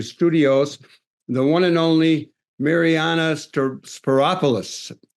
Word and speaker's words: Mariyana Spyropoulos: And we're taking a musical break, and then we will be back with our next guest, who is Mariyana Spyropoulos.